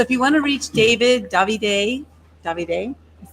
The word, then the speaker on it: Davide: Davide is 3 syllables. The accent, the hardest accent, is on the first syllable. Da. So you want to throw your hands, throw the pizza on the Davide.